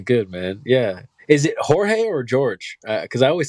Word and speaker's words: Jorge: Because I always said George, but then I think Nathan's been saying Jorge, right? Yeah, Nathan says my name in Spanish, Jorge. I'm Portuguese. It's Jorge. George. The J is spelled J.